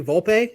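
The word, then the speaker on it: Volpe: rodon they signed him Anthony vulpe is that how you pronounce it I don't know yes it is vulp yep the vulp 21-year-old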